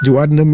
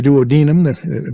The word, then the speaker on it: duodenum: and that's it yeah the duodenum or the duodenum both are acceptable pronunciations and you happen to